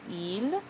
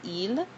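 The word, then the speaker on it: ils: We have il. Um you notice you don't pronounce the s even though it's there. It stays silent. Il and ed which is they masculine.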